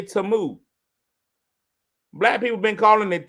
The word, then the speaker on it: Temu: It's Tamu. Now, I really thought it was Timu.